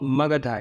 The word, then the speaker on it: मगध: ये मगधा लिखा है लेकिन ये मगध होता है, हिंदी में इसको मगध पढ़ते हैं और लिखा भी जाता है मगध ही यहाँ, लेकिन इंग्लिश में मगध न लिख मगधा लिखते हैं, उसको सही उच्चारण सही बनाने के लिए उसका। तो यानी धर्मरण्य, मगध के